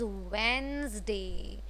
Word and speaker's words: Wednesday: सो it becomes वेंसडे, WENSDAY. Okay, वेंसडे would be the correct pronunciation of the third day ऑफ the week which is वेंसडे.